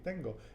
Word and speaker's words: tengo: kind of rhymes with well it doesn't rhyme with tango but it sounds very similar natalie uh i have tango tango si tengo and you have tiene